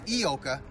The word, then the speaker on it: Ioka: Kazuto Ioka. Ioka. Yeah. I used to call him Ioka, like Lee Iacocca. Remember Yeah. that guy, the car guy? Yeah. Oh, Ioka. But it's Ioka, and he beat Javier Centron, yep.